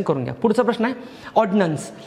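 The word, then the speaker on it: ordinance: आता हे उच्चार करताना असं लय लावायचं नसतं, ऑर्डिनन्स. इट जस्ट ऑर्डिनन्स आणि तो पण ऑर्डिनन्सच आहे. मग आता दोघांमध्ये फरक काय स्पेलिंगमध्ये? एकामध्ये आय आहे तो ऑर्डिनन्स, पण त्याचा आय एवढा लांबवायचा नसतो, ऑर्डिनन्स.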